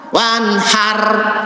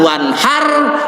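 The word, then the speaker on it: وَانْحَرْ: bukan salah bukan wanhar wanhar Maaf bukan tapi Kenapa ro berhenti sukun sebelumnya tanda bacanya fathah tafkhim bukan wanhar salat mohon dirubah bacaannya jangan kau Kausar jangan onehar jangan bentar tapi bukan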